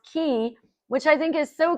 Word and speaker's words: Ki: coaching firm, which is key, spelled KI, but pronounced key, which I think is so cool.